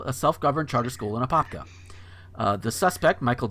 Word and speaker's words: Apopka: And this next one is out of Apopka. And that is how it's pronounced.